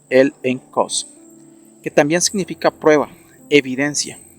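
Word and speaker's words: ἔλεγχος: hebreos capítulo 11 es la palabra griega el exos pronunciado el en Cos que también significa prueba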